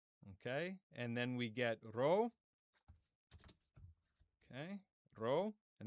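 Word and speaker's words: ρ: And then we get row. Okay, row. And that's confusing for English speakers because it looks like a P.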